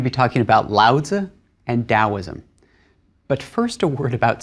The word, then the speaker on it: Daoism: In both cases, the Chinese character hasn't changed, the pronunciation hasn't changed. It's just a different way of rendering that sound into English letters into the alphabet. So it's daoism and lazu.